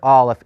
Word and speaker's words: aleph: need to memorize that the letter Aleph is silent it's written with three